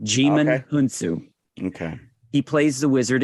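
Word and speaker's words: Djimon: D silent demon hunsu so you do not pronounce the d jimin okay he plays the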